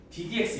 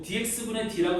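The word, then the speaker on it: d/dx: 이거는 이 뒤에 있는 함수를 ddx 이건 이제 ddx라고 읽는 거거든. dx분의 d라고 읽는 거 아니에요. 그냥 ddx라고 읽는 건데 얘는 이 뒤에 있는 함수를 x에 대해서 미분하라는 기호예요.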